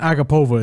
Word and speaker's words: Agapova: It's not Agapova. It's Agapova.